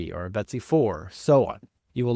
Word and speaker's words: BTSEY: So, this is the Betsy fix or BTSEY and I'm pronouncing it Betsy.